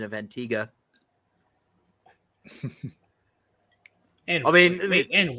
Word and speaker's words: Antigua: Antigua. I was like, what? Yeah, it's supposed to, I guess it's the locals pronounce it Antigua.